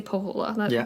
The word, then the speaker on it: Pohjola: is the lands of Pohjola. I'm going to say Pohjola. That makes most sense. Silent J, right?